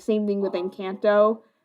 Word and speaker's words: Encanto: Like, same thing with Encanto, which I'm pronouncing that right now, or not Enchanto, tomato.